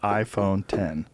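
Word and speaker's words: iPhone X: How to pronounce the new iPhone. Then you have Tim Cook saying, we call it iPhone 10.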